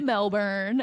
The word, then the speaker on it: Melbourne: about 28 years old I was living in Melbourne at the time so I was you say